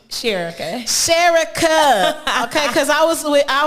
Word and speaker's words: Sherika: was like yeah cause i kept saying i said gonna be on the she said sherry cut i said okay